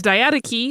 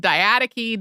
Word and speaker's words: diadochi: I've heard diadochi, diadochi, diadokoi, which is more like how it was pronounced in Greek.